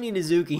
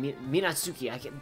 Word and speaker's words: Minazuki: They said it Minazuki. They pronounce it weird. Minazuki. I'm gonna keep saying it that way.